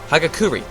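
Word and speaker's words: Hagakure: We don't have to, but uh Yesah Hakuri. Hakuri, whatever. Hagakuri, that was how you say it.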